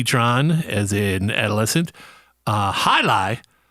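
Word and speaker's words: jai alai: as in adolescent uh high lie which of course is spelled j-a-i new word a-l-a-i which is a sport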